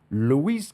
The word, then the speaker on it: Luis: sitting here talking with Lis please tell me I said that correctly Luis you absolutely I wish